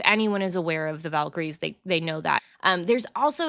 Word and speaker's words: Valkyries: probably aware of the Valkyries, or I think I even heard it pronounced Valkyries. Yeah. Actually, is how the natives would have said it.